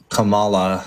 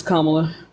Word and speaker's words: Kamala: I didn't like um Kamala uh that's not how you pronounce her name it's Kamala Oh I thought thought